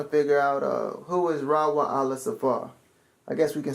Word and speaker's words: Raiwa'ahla: Raiwa'ahla. It's almost like saying Yasharala, but it's Raiwa'ahla, and it means friend of God.